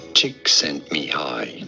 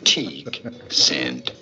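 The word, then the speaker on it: Csíkszentmihályi: Csikszentmihalyi. Csikszentmihalyi.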